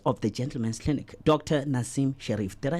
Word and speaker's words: Nassim Sherif: Nassim Sherif.